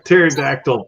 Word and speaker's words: pterodactyl: can't you hear a pterodactyl P because the p is silent is silent baby U